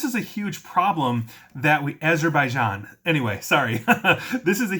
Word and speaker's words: Azerbaijan: And Azerbaijan is how you pronounce that country, and I apologize.